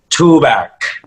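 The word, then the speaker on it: Tuğberk: for a second it's tugberk tugberk yeah in turkish it's too back there's like a little accent over the g and it is silent and prolongs the vowel before it so ah okay i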